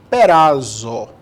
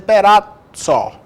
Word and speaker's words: Perazzo: Mas se fosse pelo certo, italianamente falando, era só para ser Perazzo. E é Perazzo, e eu também não vou exigir do cara que o cara saiba que a pronúncia não é Perazzo, é Perazzo. Pô, vamos dizer que esse cara está com frescura.